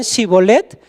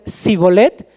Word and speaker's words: Shibolet: Si decían Shibolet, los dejaban pasar, pero si decían Sibolet, no los dejaban pasar porque no lo pronunciaban adecuadamente.